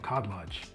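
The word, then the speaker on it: Khadlaj: Next up, we have another fragrance from Cod Lodge. And I swear Cod Lodge is not sponsoring this video. If they were, I'd probably be pronouncing cod lodge the Arabic way by swallowing the K.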